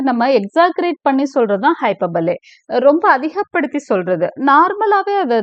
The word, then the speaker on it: hyperbole: ஹைப்பர்பலே இதை ப்ரொனவுன்ஸ் பண்றது வந்து ஹைப்பர்பலே அப்படின்னு சொல்லணும். ரைட்?